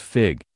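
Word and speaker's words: Figue: agriculture to women's development Megan's dressed by fig pronounced fig is the brainchild of creative director Stephanie Vaughn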